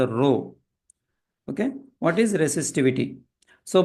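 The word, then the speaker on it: ρ: This is not P. This is pronounced as row.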